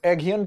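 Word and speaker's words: Aghion: Pronunciation का फर्क हो सकता है। तो देखिए जोल, मोकायर कह लीजिए, मोकेर कह लीजिए, फिलिप एगियन कह लीजिए और पीटर हॉब कह लीजिए।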